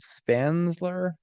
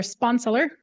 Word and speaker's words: Sponseller: Is it Spansler? Butchered that. Sorry about that. Thank you, chairman, commissioners. Thank you for your service, volunteer service. Appreciate it very much. My name is Sponseller.